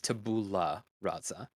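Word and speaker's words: tabula rasa: time please forgive me I mispronounced it wrong because I was I was trying to fit his accent I messed it up it is tabula razza we'll scratch that out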